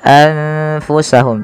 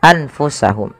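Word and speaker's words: أَنفُسَهُمْ: bertemu dengan huruf fa maka nunnya disamarkan kepada huruf fa maka menjadi anfusahum tidak lagi dengan jelas suara nunnya anfusahum tapi samarkan ke huruf fa kemudian Di sini ada bacaan yaitu idgam bunah.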